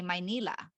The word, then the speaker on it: Manila: I it's funny because I still hear my mom pronounce Manila like that sometimes when she's talking to family back home she'll say my Nila and and instead of Manila but she says now